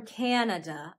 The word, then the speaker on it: Canada: People from Canada are called Canadian. Canadian. Notice how in Canada, the second syllable is a schwa, Canada. But in Canadian, Canadian, the second syllable is pronounced a, Canadian.